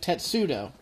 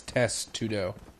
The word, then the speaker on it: Testudo: I'm pretty sure it's Testudo. It's definitely not what I said. You think it's test? Test, yes. I believe it is test.